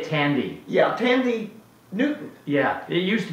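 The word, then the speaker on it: Thandie: taunting uh i like to say tandy yeah tandy newton yeah it used to be people who pronounce the wii at the end of the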